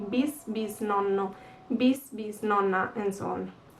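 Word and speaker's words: bisnonno: You add a bis in front of the word. Bis nonno, bis nonna, bis nonni. This bis, it's like the great in English, and in Italian it means two, so twice grandparents, bis nonni.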